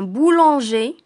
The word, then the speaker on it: boulanger: des exemples on dit un boulanger sans prononcer le r une boulangère cher cher